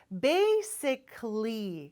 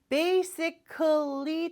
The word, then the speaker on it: basically: 긴 단어들이 많죠 그렇죠 baysically 근데 여기서 좋은 소식 하나 알려드릴게요 basically 다 발음할 필요 없어요 베이스 때까지 쉽죠 란 뜻이 있죠 근데